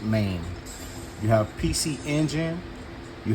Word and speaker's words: MAME: 2 capcon 3 MIM which I called it Mame in one of my videos of a few posts back but it's pronounced main you have PC engine you have family computer